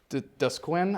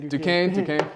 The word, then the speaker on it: Duquesne: So, and then the next match against Dusquin, I believe. I can't really pronounce the name. Duquesne.